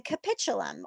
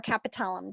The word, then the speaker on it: capitulum: The radius is going to articulate with the capitulum or capitulum, depending on how you want to pronounce it. It can be pronounced both ways, of the humerus.